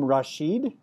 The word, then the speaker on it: Rashid: and her name is Carey and Kerry you pronounce your last name Rasheed ah I did it you did can you